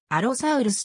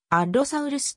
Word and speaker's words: アロサウルス: ことになったこのアロサウルスの読み方であるが多くは心を一つ省いてアロサウルスと読まれるまた子音を発音してあるろサウルス ll にアクセントを置きアロサウルスとされる場合もある鋭い爪を持つ